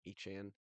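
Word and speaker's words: Etienne: I like getting uh Travis ETN. He wants to go by Echan.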